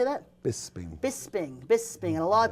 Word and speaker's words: Bisping: a big fight you fight you fought um bills spring bills spring how do you say that Bisping Bisping Bisping and a lot of people thought